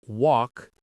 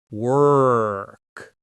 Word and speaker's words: work: It's not walk, it's work. You can feel the muscle in the back of your tongue working.